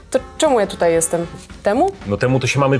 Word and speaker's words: Temu: czemu ja tutaj jestem temu No temu to się mamy przyjrzeć ale czyta się teamu madzionka w dzisiejszym filmie